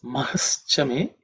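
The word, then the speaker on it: महश्च मे: There are no hard consonants. So Mahaha Chame, Mahaha Chame, Mahaha Chame. That Visarga ha, becomes Ish because of Sandhi.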